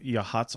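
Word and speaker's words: Yachats: spot on the Oregon coast just south of yahat's organ spelled yatchets if you're trying to find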